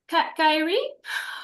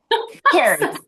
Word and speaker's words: Carrie: Kyrie. I'm sorry. Then I'll just butchered your name. Carrie. It's It is Carrie.